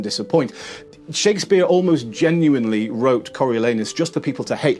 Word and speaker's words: Coriolanus: Number 3, Coriolanus. Coriolanus, often referred to as the anus play. You got to pronounce it very carefully.